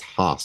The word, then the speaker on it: Haus: of spin of sin is spelled ha a u s so it's hos it's the Germanic version of house yeah we like to